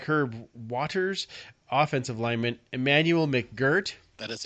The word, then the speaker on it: McGirt: Also signing defensive back Herb Waters, offensive lineman Emmanuel McGirt. That is how you pronounce it. Emmanuel McGirt.